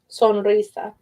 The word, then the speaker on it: sonrisa: You don't always roll your R in Spanish, only if it's the first letter is an R or there's a double R. If it's sonrisa, sonrisa.